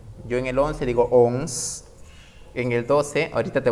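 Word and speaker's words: onze: Y como te das cuenta, a la letra E la he marcado con otro color, porque no se pronuncia. Yo en el 11 digo ONS.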